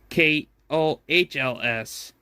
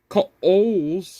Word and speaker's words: Kohl's: Joshua in mysteriously now it's spelled K O H L S doesn't make any sense at all to be honest. If you pronounce it Kohl's, not co.